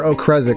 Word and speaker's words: Okrezik: What we believe, we've never actually got confirmation, we believe Okrezik is how you say his last name. I just verified with him, and yes, that is it.